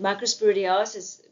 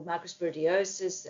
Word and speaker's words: microsporidiosis: This is actually um microsporidia that was diagnosed on a patient and microsporidiosis or microsporiosis um you can use both pronunciations can actually be found in a wide range of different organs.